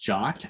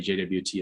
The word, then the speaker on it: JWT: the topics talk um they are pronounced jot actually so if you wanna feel like you're on the inside you can say jot otherwise i often say jwt as well um they